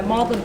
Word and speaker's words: Magdalen: have any money and were eventually bought by modlin college F Magdalene pronounced mlin that's Med pronunciation and turns during